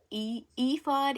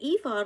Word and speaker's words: ephod: The next part of this chapter talks about something called I think if this is pronounced ephod, it's EPHOD, design of the ephod.